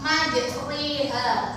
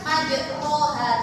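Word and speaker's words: مجريها: Majriha. Kalian bacanya bukan majroha, tapi kalau bacaan imalah itu memiringkan bunyi fathah yang kedua. Jadi majriha kayak ini.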